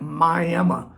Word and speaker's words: Miami: Yeah, it's spelled Miami, but out here we call it Miami.